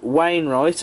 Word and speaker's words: Wainwright: This is the all-new Hornby Wainwright, and I have pronounced that correctly, H-Class, in the South East and Chatham Railway livery.